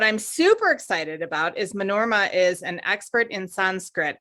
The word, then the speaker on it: Manorama: shares that and uh my name is pronounced manorama with the accent again on that last ah the oh and the